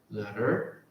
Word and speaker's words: ladder: O A você faz o queixão e o E você faz normal. Tipo, ladder, ladder, tá?